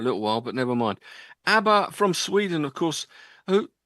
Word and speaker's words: ABBA: So rather than called they changed their name, and hopefully it rhymes with Jabba, because we're having a bit of a jabber about ABBA tonight.